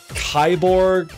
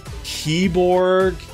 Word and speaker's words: Kiborg: too generic for them how do you even pronounce this kyborg keybor Ki KI like Killer Instinct Borg but I would love